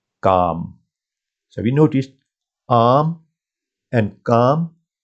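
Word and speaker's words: کام: Kaf, that gives you k sound. Medial alif gives you a sound, and meme. So that makes calm.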